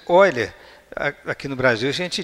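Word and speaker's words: Euler: Essa pronúncia Oiler, aqui no Brasil a gente diz eer, né? Mas em alemão esse eu fala oi.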